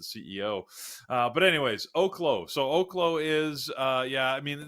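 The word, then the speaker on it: Oklo: Friday by the way and learned that it's pronounced OKO uh because we did watch as we were heading into the close with an interview with the CEO uh but anyways so OKO is uh yeah I mean this is a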